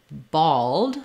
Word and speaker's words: bald: bald this request all I would build this from the word all thinking about that as having kind of the a vowel all all um again kind of a o all um I don't need a lot of length here but basically um the all all you're going to have a rounded vowel and your dark l and then ball and